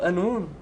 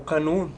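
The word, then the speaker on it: qanun: O Anun e ou canum no árabe clássico, né, que eles é assim a pronúncia.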